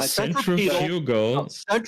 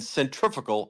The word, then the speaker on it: centrifugal: centrifugal can be pronounced different ways, whether or not you're in the continent or Europe. It's centrifugal, centrifugal, same word, just different emphasis on a syllable.